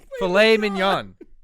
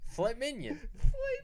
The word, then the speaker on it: filet mignon: Filet mignon. You dumb fuck. Filet mignon.